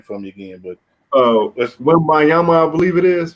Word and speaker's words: Wembanyama: Well, you say, Drew, you got to pronounce the last name for me again, but Wembayama, I believe it is. Wembayama, is that right?